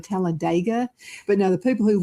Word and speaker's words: Talladega: Now, when everybody's there, you can pronounce it exactly like you said, Talladega. But now the people who live there say Talladega. You know, like in the ditch.